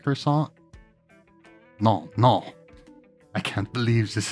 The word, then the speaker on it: croissant: A croissant? No, my little friend, it's croissant. You say it like this, croissant.